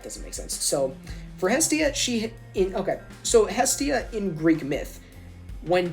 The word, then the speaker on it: Hestia: I've heard it pronounced Hestia too. I kind of like Hestia better.